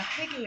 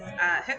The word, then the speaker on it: Hygge: This is her alternate ego, and this is her new book, Hygge and Homicide, not Hygge and Homicide, as I've been pronouncing it for the last year as she was writing it.